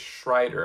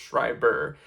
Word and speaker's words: Schreiber: I don't think it's Schrider, I think it's Schreiber.